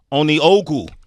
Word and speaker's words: Onieogou: She goes by the name of Greta Onieogou. Perfect pronunciation.